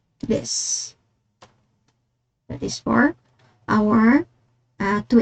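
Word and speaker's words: です: So we will not pronounce the desu since it is placed after the voiceless consonant na s.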